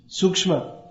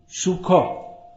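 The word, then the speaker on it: सूक्ष्म: Sukshma. Bengali, Shukha. It's written the same way but pronounced differently.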